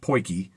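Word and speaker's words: potjie: poy okay it's spelled pot G but it's pronounced poy it is a South African cooking pot it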